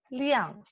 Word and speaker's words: 辆: Right, okay, and okay, so this one tricky one, because doesn't have any exact translation in English, and this character we pronounce 亮 liang.